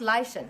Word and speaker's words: Laishan: It's pronounced Laishan. It's Celtic because I'm Welsh.